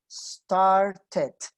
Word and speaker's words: started: Si lo quiero hacer en pasado, ahí sí me suena la E. Ahí está E, sí suena. Voy a ponerla de otro color. Started.